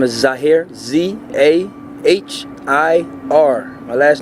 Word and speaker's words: Zahir: Okay, how do you spell it for us? My name is Zahir, Z-A-H-I-R.